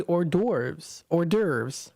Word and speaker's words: hors d'oeuvres: They've got complimentary hors d'oeuvres. That's how you pronounce it.